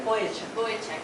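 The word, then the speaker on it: Vujicic: Boyacek.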